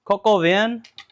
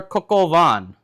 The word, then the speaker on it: coq au vin: you pronounce the dish I think it's pronounced cocovan or cocovan I've heard it pronounced both ways I COV van oh